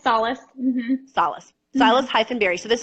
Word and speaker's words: Salas: I've been literally researching for 40 minutes to try to make sure I don't mispronounce it, and I definitely Salas. Well, yeah, it's Salas.